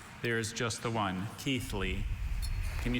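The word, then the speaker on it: Keighley: Are there any alter pronunciations? There is just the one. Keithley. Can you say it? Keithley.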